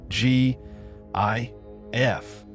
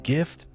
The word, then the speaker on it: GIF: Should it be pronounced with a hard G as in gift or a soft G as in giraffe?